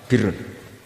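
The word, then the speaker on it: بر: Ya kalau di isim fa'ilnya umumnya guru-guru kita baca barin, tapi untuk masdarnya untuk kebaikan bacanya apa? Birun. Nanti kamu protes, oh Barun itu daratan Gus, kalau Birun itu kebaikan.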